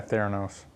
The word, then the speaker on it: Theranos: Yeah, Theranos.